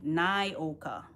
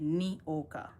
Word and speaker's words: Nyoka: I know Nyoka, and that's how my name is pronounced, Nyoka. But some people say Nioka.